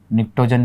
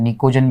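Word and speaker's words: pnictogen: ये आपके पास में नाइट्रोजन फैमिली है, और दोस्तों देखिएगा इसी को हम निक्टोजन भी कहते हैं, निकोजन भी बोलते हैं इनको। ओके, ये निक्टोजन्स भी हैं आपके पास में, पी साइलेंट रहता है यहाँ पे कि ये जो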